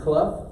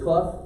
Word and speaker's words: Clough: that right it is Clough I got the opportunity to meet him it is Clough it rhymes with rough and tough his words not mine